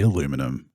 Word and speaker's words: aluminium: I know I'm Australian I say aluminium you might say aluminum it is spelled that